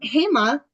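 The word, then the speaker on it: Hema: her name she said it's like you know hey Ma you say hey Ma when you're talking to your mom um he ma is the founder of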